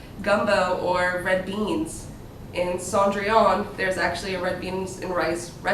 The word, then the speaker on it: Cendrillon: Like I said, this one right here is Cendrillon. I know it's not pronounced how it really looks.